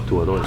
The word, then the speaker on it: Tabuaeran: Is that how you pronounce it? Yeah. So. Tabuaeran.